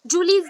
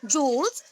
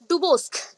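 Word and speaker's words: Jules Duboscq: जूल्स, ठीक है, जूलीज नहीं है, जूल्स है। जूल्स डुबोस्क, जूल्स डुबोस्क। स्पेलिंग आपके बुक में जो मेंशन है दैट इज DUBOSCQ, ठीक है, वो क्यू है। आपको अगर प्रॉब्लम हुआ इसलिए मैं मेंशन कर रही हूँ, दैट इज डुबोस्क।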